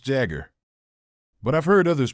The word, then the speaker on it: Jaguar: the brand I'm going to introduce today is pronounced Jagger but I've heard others pronounce it as Jaguar how do all of you pronounce it the